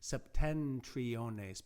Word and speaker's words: septentriones: seven but uh the it turns into an n because of the ease of pronunciation with the t septentriones because the n is